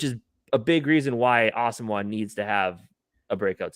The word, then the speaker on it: Asamoah: He did say it is pronounced Asamoah.